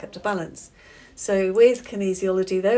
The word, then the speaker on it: kinesiology: Kin easyology. Say it. Kinesiology.